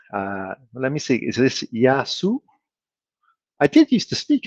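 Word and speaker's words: γεια σου: So how is it supposed to be pronounced? I don't really speak that much Greek, but like Yasu. Yasu.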